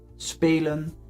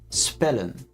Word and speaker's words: spelen: So one consonant is pronounced long, spelen, and two consonants is pronounced short, spellen or werken.